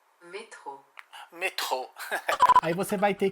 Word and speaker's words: métro: Alexa, como se fala metrô em francês? Metrô, em francês é métro.